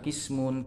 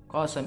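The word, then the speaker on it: قسم: Makanya qasam ini bisa dibaca kismun, qasam, qasam, banyak cara bacanya, tapi di sini dikatakan qasam itu bit fathis sin, huruf sinnya dikasih fathah.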